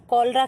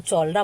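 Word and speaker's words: cholera: सीएच से शुरू होता है। लेकिन आप लोग इसको चोलरा मत पढ़िएगा। क्या है? कोलरा होता है। ठीक है? सी क्या होता है? एच क्या होता है? साइलेंट होता है।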